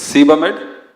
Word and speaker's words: Sebamed: So I just want to ensure that we pronounce it properly. It's Sebamed.